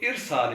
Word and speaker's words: ارسال: ہی ایک لفظ ہے ارسال، جس کا مطلب ہے جاری کرنا، بھیجنا۔ اس کو بھی لوگ ارسال پڑھتے ہیں الف پر زبر کے ساتھ، تو ارسال اس کا درست تلفظ ہے۔ ایسے ہی افشا ایک